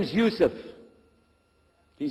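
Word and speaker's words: Yusuf: we'll work on it shaolong my name is Yusef do you say yourself he said you see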